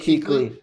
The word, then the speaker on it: Kuechly: How do you pronounce it? Luke Kuechly.